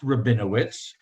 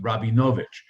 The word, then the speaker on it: Rabinovich: But the family name was pronounced Rabinowitz, as opposed to my family name, that was more from Romania rather than from the Ukraine. In Romania, it was pronounced Rabinovich. We're not related, but it's spelled the same, but Rabinovich or Rabinowitz. In Ukraine, they pronounce it closer to Rabinowitz.